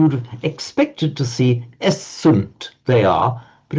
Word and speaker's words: est: with the Latin word est is and in modern French written written the same but pronounced e he she it is